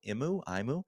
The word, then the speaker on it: Imoo: I think it's spelled IMOO. Imu.